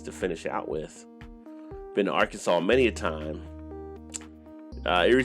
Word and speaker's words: Arkansas: nice five states to finish out with been Arkansas many a time Erie said hurts their closes